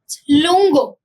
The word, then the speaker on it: lungo: आगे देखते हैं how do you pronounce it? Lungo, lungo, repeat after me, lungo।